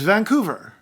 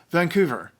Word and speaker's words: Vancouver: Island the biggest city in British Columbia is Vancouver or as some people said Vancouver it is not on Vancouver Island Vancouver was